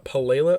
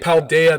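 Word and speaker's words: Paldea: is going to be the pelela or pelela region i think it's how you pronounce it that could be wrong i think it was paul daya right paul daya that's what it is yeah you're right peldaya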